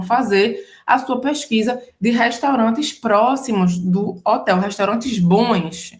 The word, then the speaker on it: restaurant: Próximo ambiente, agora estamos no restaurante em francês, o restaurant. O restaurant, presta atenção, o T no final é mudo, o restaurant. Hein?